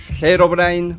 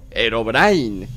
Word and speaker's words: Herobrine: Herobrine, también pronunciado Herobrine o Herobrine, aunque inicialmente conocido por